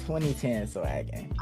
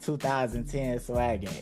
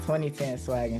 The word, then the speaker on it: 2010swaggin: All right, so a lot of people say it like that, but it's pronounced 2010 swaggin. Oh, dang. A lot of people say it like 2010 swaggin. It's pronounced 2010 swaggin.